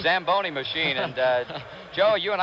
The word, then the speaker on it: Zamboni: is it's a tell you you should have pronounced it what does it call the samboni Zamboni machine and Joe you and I were talking